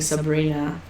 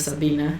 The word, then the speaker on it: Sabina: Um, I think I I pre I I would rather have my last name mispronounced than having Sabrina uh instead of Sabina.